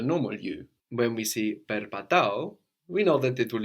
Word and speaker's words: περπατώ: Perpatao was I walk. Perpatao. So we can have perpatao, or you might also hear perpato.